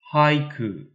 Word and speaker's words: haiku: a haiku in english even the name haiku is pronounced differently in japanese it is pronounced with three syllables and in english it is pronounced with two syllables haiku